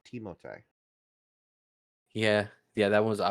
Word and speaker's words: Timothée: It's like how people keep mispronouncing Timothy Chalamet's name. Yeah. Yeah, Yeah, his that's a first funny name's one. not Timothy, it's Timothée.